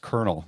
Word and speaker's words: colonel: spelled the way it is but it's uh pronounced colel yeah like k r NL it's it's it's funny yeah a lot of people will say colonal because that's that's how it's spelled but yeah